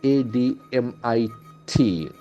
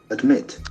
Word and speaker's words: admit: Then we get the next verb of the day, ADMIT. Admit. Admit. Okay, admit. So that D is very much prominent. Admit. So we have two syllables there. Admit. And the accent falls on the second syllable.